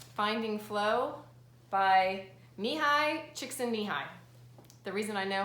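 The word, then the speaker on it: Mihaly Csikszentmihalyi: that I recommend is called finding flow by me hi chick sandy hi the reason I know how to say this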